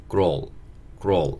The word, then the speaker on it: girl: 이제 소녀라고 하고 이거를 grow 이렇게 발음을 하는데 보통 이거를 girl이라는 단어로 우리가 많이 알고 있죠. 근데 그렇게 발음하는 단어가 아니고 여기 R이 있기 때문에 grow 이렇게 발음을 정확하게 해줘야 되는 단어인데 이게 사실 되게 힘들어요.